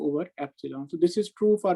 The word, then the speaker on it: epsilon: as mu and in the denominator it is pronounced as epsilon so eta is given by square root of mu over epsilon so this is true for material one this